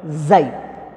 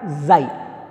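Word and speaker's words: χ: It is represented by letter xi. But we can pronounce that xi, not x. This is Greek letter xi.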